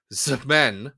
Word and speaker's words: X-Men: Or a few years before this, the one-shot parody issue of X-Men, pronounced Zmen, one syllable, by Milky Way Graphics, which I would argue no one should read these.